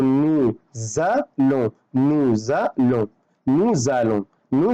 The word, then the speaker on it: nous allons: فبالتالي لو انا قلت نو الون لا غلط، لازم اقول نو زالون، نو زالون، نو زالون، نو زالون نحن نذهب.